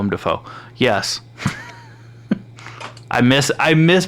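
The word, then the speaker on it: Willem Dafoe: Willam defo uh yeah I caught myself cuz we had this conversation earlier I've pronounced his name wrong since forever um but so William fo sounds like a crow and a Frog arguing Willam the foe Willow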